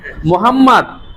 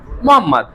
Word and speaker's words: মোহাম্মদ: মানে এমএসটি এই উচ্চারণটা না করে বলবা মোসাম্মদ। আচ্ছা আমরা অনেকে এমডি বলি না। MD Shubho my name MD শুভ। এটা চাকরি হবে না তোমার শেষে। এমডি না মোহাম্মদ।